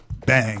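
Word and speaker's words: bhang: on big underscore bomb everybody in DC calls it bang bang right but it's spelled BH aah ang it's a ode to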